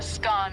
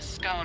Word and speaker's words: scone: the pronunciation of scone both scan rhyming with gone and scone rhyming with bone are accepted pronunciations though Regional variations exist